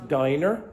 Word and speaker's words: diner: So the pronunciation of this word is diner, that's dinner.